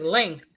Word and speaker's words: length: I had a student say, when she says length, she was like, oh, you said it without the G. You have to say the G.